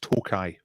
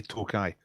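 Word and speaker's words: Tokaji: I believe it's pronounced Tokai. It looks like Tokay, but I think you say Tokai.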